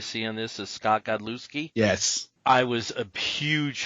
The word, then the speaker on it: Godlewski: you said it, but it's pronounced Godlewski. The W is silent.